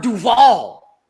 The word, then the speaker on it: Duvall: duvall and annette benning sorry i mispronounced the second name it's robert duvall gotta say it right we're gonna go